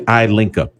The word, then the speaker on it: iLinkUp: That would be iLinkUp, as it's pronounced.